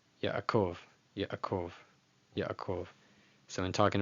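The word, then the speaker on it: יעקב: That ayin is pretty much just ignored entirely, and the patach and the patach, the chat of patach, they're just conflated into one syllable, Yaakov, Yaakov. But staying faithful to the way that it's written, it'd be Yaakov, Yaakov, with a little pause in between.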